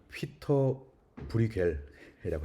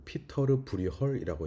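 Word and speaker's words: Pieter Bruegel: 예전에는 피터 브리겔이라고 했고요. 그 다음에는 피터 브르겔이라고 하는 게 있었고, 요새는 이제 네덜란드 발음, 플랑드르 발음 그대로 읽자 그래가지고 이제 이게 플랑드르도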